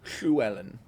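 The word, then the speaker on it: Llywelyn: However, in Welsh, they actually pronounce it a little differently. Oh crap. Uh, it's Luwellen.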